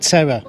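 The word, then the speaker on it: Teror: a town called Terror as in English it's pronounced Terror and uh and the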